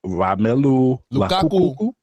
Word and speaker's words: Romelu Lukaku: I don't know how to pronounce his name. Romelu Lukaku.